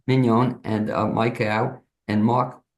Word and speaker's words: Mignon: guests today, and they are Mark Woodward, Mars, pronunciation last name Mars, so I get it right, Mignon. Mignon, and Mike Au.